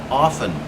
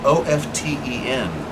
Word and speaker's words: often: Please note, I just used the word often. It is spelled O-F-T-E-N, but brothers and sisters, ladies and gentlemen, little boys and girls, Elrigs and Purbodies, the word is often, not often.